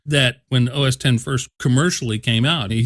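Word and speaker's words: OS X: finally everybody understands that that X is a Roman numeral and it's supposed to be pronounced OS 10 and not Oh sex sex haha now that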